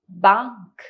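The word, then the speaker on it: Bank: अर्थ सही सोचा है यह बैंक है लेकिन जर्मन भाषा का उच्चारण इंग्लिश या हिंदी भाषा के उच्चारण से बहुत अलग है ध्यान से सुने और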